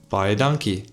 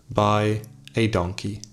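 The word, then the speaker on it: baie dankie: i also told him how to say thank you very much buy a donkey that's how you say it buy a donkey before max and bus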